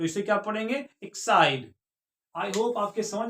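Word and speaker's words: Exide: हैं इ एक्स आई डीई इसको पढ़ते हैं एक्साइड इसको क्या पढ़ते हैं इसको पढ़ते हैं एक्साइड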